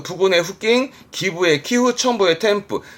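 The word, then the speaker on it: 添付: 템프. 아시죠? 응 때문에 발음 바뀝니다. 템프 합니다.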